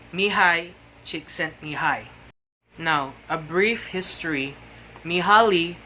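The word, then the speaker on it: Mihály: the russian positive psychologist if you read his word his name it it looks as if it pronounced me ali she sent me holly but it's actually mihai now a brief history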